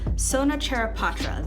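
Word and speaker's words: Sona Charaipotra: not gonna have you sit and hear we butcher the name it's Sona chair of Patras that is that is the name of this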